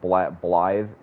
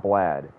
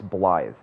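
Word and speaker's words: Blaidd: It's not Blad. It's Blythe. It's spelled B-L-A-I-D-D, but it's pronounced Blythe.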